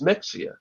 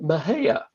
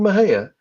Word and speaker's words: Mexia: you look at it you think okay that's Mexia but the locals pronounce at Maha oh and there there's a story about two friends sitting in a restaurant in Maha and they're arguing about how it's pronounced and